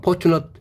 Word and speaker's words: fortunate: 그러면 이 포춘이 바로 행운이 된 거고, 거기에다가 포추니트 하면 포추너트 AT는 뭐야? 동접이죠. 근데 얘가 어트 발음하면 어때?